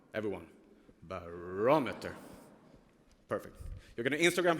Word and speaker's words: barometer: The British English pronunciation. And Johanna, you were correct. So it's called barometer. Everyone, barometer.